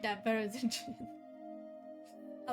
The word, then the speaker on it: Zin: It's Jyn. Obviously, that's how you say his name. Zen. Okay. First things first. Should we have first aid? Exit. Yes. Yes. Yes. Yes, Zen. Hard Z.